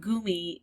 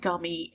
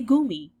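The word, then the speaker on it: Gummi: and if you're wondering why I call it Gumi it's because it's not spelled with a Y it's spelled with an i and that gives it that the German we call it gummy in the United States but in Germany they say Gumi so yeah that's why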